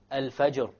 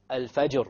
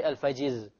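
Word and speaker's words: الفجر: because the fathah dham the general r is that it will be heavy examples are alfajr alfajr we don't say alfajiz alfajr asukr look the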